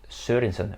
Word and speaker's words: Sørensen: And I even think I pronounced the O with the stripe through it right. It's like Sørensen, right? Welcome to the channel.